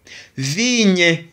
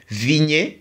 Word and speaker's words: vigne: n on lign vigne mais le e n'a pas d'accent c'est pourquoi nous ne disons pas vignet nous disons vign vigne parce que le e ici n'a pas d'accent c'est pas le e qui qui est suivi par R, qui est suivi par S ou bien qui a l'accent ou bien E qui